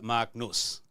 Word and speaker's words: Marc Nuss: the studio today very very excited to have Mark NOS I pronounce it right you did it perfectly thank